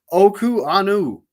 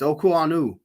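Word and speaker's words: Okuayinonu: little better um and as for the pronunciation it's oku Anu it's oku Anu that's that's how you say it it's like it's right there folks it's right there oku Anu see I'm cheating because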